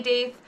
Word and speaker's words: daith: on my social media you'll probably hear me pronounce it doth that's the pronunciation I use but know that